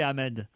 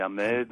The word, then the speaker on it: Ahmed: Alors, est-ce que je l'ai bien prononcé, Ahmed? Oui, c'est ça. On dit Ahmed ou Ahmed. Ou Ahmed.